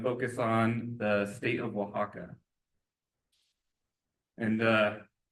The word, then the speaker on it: Oaxaca: We're just going to focus on the state of Oaxaca. And it's kind of a weird word, but that is how you pronounce it, Oaxaca.